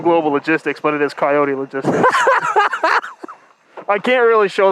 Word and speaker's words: Coyote: to ask you this are you a coyote guy or do you pronounce it coyote because you can pronounce it both ways well i don't pronounce